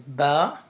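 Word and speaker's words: باء: The next letter is ba. Ba. When the 2 lips touch together or they connect with each other, then you need to pronounce.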